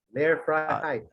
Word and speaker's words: Lehrfreiheit: Lehrfreiheit. Tama naman yung pronunciation mo, tama kaya okay, kaya hindi na kita pa bilhan ng coffee.